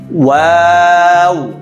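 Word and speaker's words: واو: ওয়াও, জি, সবাই খেয়াল করো, ওয়াও, ওয়াওয়ের উচ্চারণের সময় ঠোঁট গোল হবে, হ্যাঁ, ওয়াও, ওয়াও, দেখো ওয়াও।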